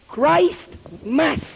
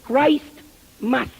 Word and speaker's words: Christmas: Christ Mass, la misa de Cristo, que más tarde empezaron a pronunciarlo Christmas, pero que la verdadera pronunciación es Christ Mass.